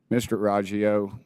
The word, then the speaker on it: Roggio: Mr. Roggio, is that how you pronounce that name? Yes, sir.